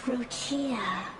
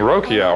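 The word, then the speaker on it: Roccia: Ah, Roia, you found me. Oh, that's how I pronounce her name. I was just saying Rokia or Roshia.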